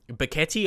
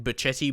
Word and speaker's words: Betetti: Um Betetti, I believe that's how you pronounce his name. I was saying Bachetti before, but again, I was corrected.